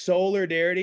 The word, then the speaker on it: Soulardarity: I'm gon be honest uh so it is solar darity it's to play on like five different words